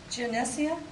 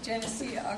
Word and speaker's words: Geneseo: Kenton he's from Sunni and he said to pronounce it uh janesia okay Jania okay sorry about that uh and he's going